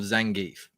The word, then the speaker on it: Zangief: And I tried to find this is the worst fan art I could find of Zangief. That is how you pronounce it.